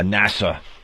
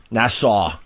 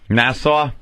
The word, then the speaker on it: Nassau: laughing at me today because I said uh NASA Nassau Nassau it's mispronunciation Friday though you got